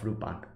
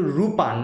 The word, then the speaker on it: Lupin: that at the beginning they called him lupan or lupin but because of some copyright like you know like problems and everything they changed his name's pronunciation to rupa not lupin because you know arsene lupin and the copyright problems that they have i